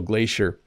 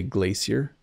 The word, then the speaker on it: glacier: So it's because I'm using the North American pronunciation. So glacier, basically a large river, but it's not water, it's ice and snow.